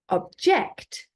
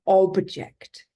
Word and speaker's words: object: The first object, so where the stress is on the second syllable, is a verb, and it means to disagree with someone, to object to something.